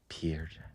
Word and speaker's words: Pierre: I'm gonna go with I'm gonna go with Pierre Jackson from Baylor in 2013. That was one of the guys I had to. It's a good one. Pierre, one of the most electric like just